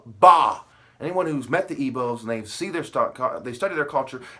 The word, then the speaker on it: Igbo: Even with the Igbos, right? The G is silent.